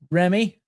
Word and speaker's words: Remmey: Today, we're joined by Jamie Frost, and I'm going to get her last name wrong. I've done it 3 times already. It's Remmey.